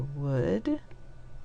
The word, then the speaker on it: would: was using the yellow this part is odd o u l to say uh and could and if you remember could you will also remember would o-u-l and should in these words okay